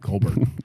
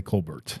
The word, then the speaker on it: Colbert: If I didn't know otherwise, why do I got to pronounce it like I'm a freaking Frenchman? Yeah. If I didn't know otherwise, I definitely would say Colbert.